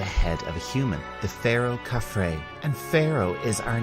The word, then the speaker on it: pharaoh: our top 10 list again we have the pH which gives us the F sound and at the end we have a silent h pharaoh definition of pharaoh is